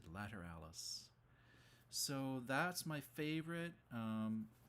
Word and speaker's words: Lateralus: for the last year i keep on saying lateralus but apparently it's later alice that's uh uh what the drummer said in an interview anyways he said later alice so that's my favorite